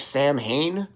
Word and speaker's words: Samhain: It's spelled like Sam Hain, but it's pronounced Samhain.